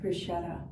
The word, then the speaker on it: bruschetta: chatting with colleagues, munching on mozzarella sticks and bruschetta. How do you say it? Bruschetta.